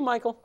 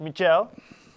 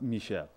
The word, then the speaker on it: Michel: May I call you Michael? Actually, it's pronounced Michel. Actually, it's pronounced Michel, like the girl.